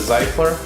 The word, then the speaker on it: Zyfler: ok today we're looking at the cycler things that's how you pronounce it here's the logo toiletry